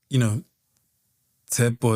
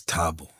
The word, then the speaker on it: Tsepo: Or, like, Tsepo is Tabo. Yeah. And it's like, dude, it's Tsepo, right?